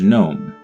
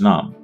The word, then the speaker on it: Nome: Gnome. Or Nom, I guess is how you say it. I'm Nom.